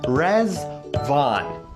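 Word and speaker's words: Riḍván: to wish you a happy Festival of rvon rvon is pronounced reson and in Arabic the word means Paradise the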